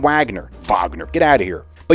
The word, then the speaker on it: Wagner: Uh France. Vagner. Wagner. I say Wagner. I'm not German. I'm American. It's Wagner. I'm not going to say Vagner.